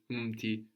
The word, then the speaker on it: mti: Also, when you pronounce words like umji, umti, it's very important not to put a small vowel sound, which will come out very naturally to English speakers. It's umti, not mti.